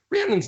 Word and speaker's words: Rhiannon: But I'm just saying the word's pronounced Rhiannon, like Stevie Nicks, Fleetwood Mac, that song is a leafy tree, where they performed their harlotries of worshiping other deities.